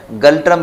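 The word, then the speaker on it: Ngultrum: गल्ट्रम यानी कि इसका जो एन है ये साइलेंट है, गल्ट्रम इसका जो है वो करेंसी है।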